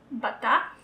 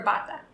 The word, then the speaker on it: bata: Bata or bata. That's it. The second one.